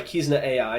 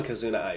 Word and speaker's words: Kizuna AI: 2D illustrations or 3D CG characters, proposed by Kizna AI in December 2016. The term is sometimes abbreviated to VTuber. I am a Kizuna Ai fan.